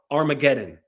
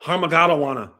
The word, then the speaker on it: Armageddon: It's called Armageddon. Not Harmagawana, not iguana.